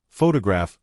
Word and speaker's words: photograph: For example, photograph noun is stressed on the first syllable, but photographic adjective is stressed on the third.